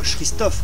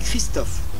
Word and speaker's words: Christophe: On dit pas Christophe, on dit Christophe. C'est du latin, CH se prononce que.